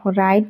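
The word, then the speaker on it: write: তাৰপিছত দিয়া আছে ৰাইট, ডাব্লুৰ উচ্চাৰণ সাইলেন্ট হৈ আছে।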